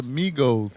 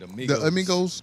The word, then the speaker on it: Migos: My kids be like, Dad, it's Migos. What the fuck's the difference? Because they don't know how to pronounce it. It's pronounced Amigo. But Migos is the name of the group, right? I know. Okay. Migos. There ain't no A in front of it.